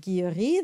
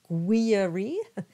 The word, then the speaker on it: Guilleri: G and that's what the U is for so we have the example of Guillory that comes up throughout the whole song and notice I didn't say guiri it is and we